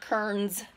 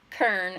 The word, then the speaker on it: Kern: Kearns and how great Dr. Kern, not Kearns, Kern, I say it like Sonics.